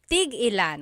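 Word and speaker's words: tig-ilan: So tigilan when there's a hyphen in it you have to have that glottle stop that means how many of each when there's no hyphen it's just one word that means to stop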